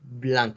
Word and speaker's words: Blanc: Blanc, así como si fuera con una O, Blanc.